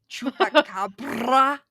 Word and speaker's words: chupacabra: Chupacabra. Oh, wow. You are really good at Spanish. Yeah, thanks. 4 years in high school. Oh, God. And I can say chupacabra. Yes. Roll your R's.